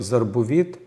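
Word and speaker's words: זרבובית: И вот в слове «зарбувит» буква «бет», кстати, одна из этих букв «бегет кефет», она произносится выделено, потому что она идет после шванах. Есть такое правило в иврите.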